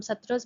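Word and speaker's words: Sattra: SMS Hindi में थोड़ा सा प्रोनाउंसिएशन हो जाता है, ठीक है, हिंदी में हम सत्रस बोलेंगे, एसएमएस में हम हटरस बोलेंगे, ठीक है, तो आप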